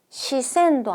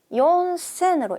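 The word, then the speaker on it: 四千: 그런데 그 중에서 시센도 아니고 여센도 아닌 연센으로 읽는다는 거 요것도 주의해야 할 포인트입니다.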